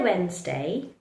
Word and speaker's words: Wednesday: D also likes to remain silent in words like sandwich, handsome, and our favorite, Wednesday. So in the word Wednesday, handsome, Wednesday, handsome, and sandwich, don't pronounce the letter D, just keep it silent.